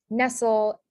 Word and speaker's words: nestle: have like soul and if that comes at the end of the word it's usually spelled with a with a s-t-l-e so the examples are nestle um n-e-s-t-l-e and then